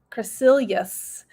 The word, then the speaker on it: Crecelius: to pronounce my name it is cra like crest toothpaste cre and then seal and then ye us crescilius and so you can